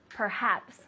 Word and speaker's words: perhaps: The first one, how do you say perhaps in Spanish? Quizás. Quizás, good, or tal vez, things like that, right? Perhaps. So you have the H. Perhaps.